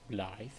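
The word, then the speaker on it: Blaidd: Apparently that's his name, not Blade. It's pronounced Bllythe.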